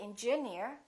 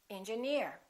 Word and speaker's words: engineer: right here's another rule if the word ends with e e r we stress the suffix for example Pioneer volunteer engineer we don't say engineer we say engineer another rule if the